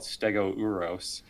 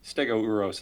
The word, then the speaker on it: Stegouros: Because it's Stegouros. So, yeah, it's like, how do you combine that O and U? Anyway, Stegouros is sort of the Latin version.